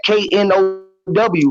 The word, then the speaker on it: know: That K-N-O-W, right? That K don't mean shit. It's silent, because that would be canal, right? If I throw that silent K away, what you got now?